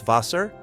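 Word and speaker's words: Wasser: And notice the W sounds like V. Vaser. Word number 12.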